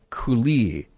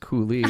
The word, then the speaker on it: coulis: However, coulis is pronounced coulis, not coulis.